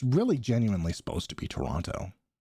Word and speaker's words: Toronto: us Americans that apparently we aren't supposed to pronounce the second T in Toronto. Yeah, it's Toronto, but it's really genuinely supposed to be Toronto.